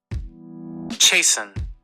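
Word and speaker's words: chasten: Let's get the pronunciation. Chason.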